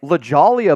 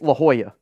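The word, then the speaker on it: La Jolla: and I'm like I was like lalia beach like what is lalia Beach it's La Hoya yeah well I didn't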